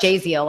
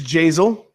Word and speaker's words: Jaziel: Jaziel. I used to say Jaziel. Yeah. All kinds of weird names, right? It's Jazel. Like Basil. Like Basil Correa.